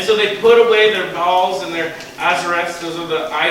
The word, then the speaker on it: Baal: Baal.